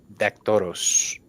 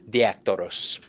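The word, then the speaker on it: Diaktoros: Um, this is a form of communication for me to work for Hermes Dactoros. Um, the I always say it wrong. Diactoros, the messenger.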